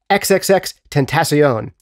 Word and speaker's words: XXXTentacion: He has worked most notably in recent years with an artist named XXXTentacion. You've probably seen that name written down, but have had trouble pronouncing it.